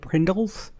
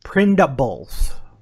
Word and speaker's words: Prindables: All right, I misheard you because I thought you said Prindles, kind of like Pringles without the G. No. Prindables.